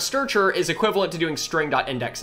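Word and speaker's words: strchr: short names and so this function that we pronounce sturger bad name but hey we'll go with it that we pronounce starcher is equivalent to doing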